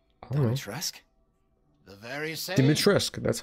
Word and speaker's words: Dimitrescu: Dimitrescu, that's how you say it.